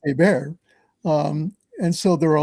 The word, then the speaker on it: Hébert: Well, Hébert is spelled Herbert, so it's Herbert, but it's pronounced Hébert.